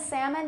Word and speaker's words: salmon: salmon palm almond now half and salmon they never have an L that's produced but if sorry that's